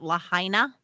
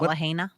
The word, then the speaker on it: Lahaina: of that guy hey make sure you're pronouncing it Lahaina not Lahaina okay am I saying it wrong Lahaina yes I could never